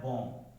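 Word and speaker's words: bomb: बी is silent after M.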